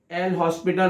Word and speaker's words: L'Hospital: This is a famous rule known as L'Hospital rule, but L is silent, so it is known as the L'Hospital rule. The L'Hospital rule. H is silent, not L.